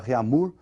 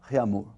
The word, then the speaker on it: Réaumur: francesa aí, que é a escala Réaumur, que nós vamos pronunciar Réaumur, né, que é aportuguesado de novo, né, e essa escala